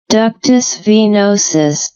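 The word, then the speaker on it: ductus venosus: Let's just pronounce this one. Ductus venosis.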